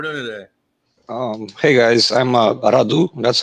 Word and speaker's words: Radu: Hey guys, I'm Radu. That's how you pronounce my name. It's a rolling R, so it's Radu.